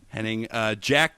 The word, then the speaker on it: Hennig: What rhymes with Henning, though? Henning, Annette Benning. Annette Benning.